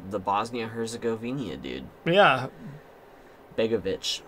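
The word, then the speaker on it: Begović: goalie goalie it's the bosnia herzegovina dude yeah begovic begovic that's how you say his name so it's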